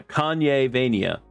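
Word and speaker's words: Kanyevania: it actually Kanye Vania is it actually Kanye Venia yeah Kanye Vania I can't I've been saying it wrong I've been saying it wrong this entire last time Kanye vania's main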